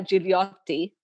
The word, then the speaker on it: Gigliotti: But with a name like Gigliotti, to pronounce it the Italian way, um, people will sometimes